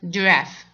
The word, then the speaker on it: giraffe: But here, G, giraffe. ده استثناء, لكن الاصل يا حلوين ان احنا بنقولها G. لكن مع كلمة زرافة بنقولها giraffe, giraffe, giraffe.